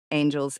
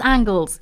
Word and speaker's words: Angles: It is angles. You're right. I'm saying it wrong.